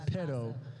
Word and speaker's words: pero: I said it wrong this morning. A Spanish and English speaker said, pero why do I have to go to So that's pero.